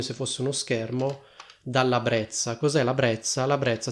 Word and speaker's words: parabrezza: Allora io per lo più sento che le persone dicono parabrezza, quindi questa doppia Z viene pronunciata così. In teoria, se ho capito bene, la parola brezza andrebbe pronunciata come brezza. Onestamente io ho sempre sentito dire parabrezza.